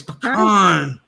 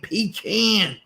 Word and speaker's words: pecan: It's usually like really southern people who say pecan.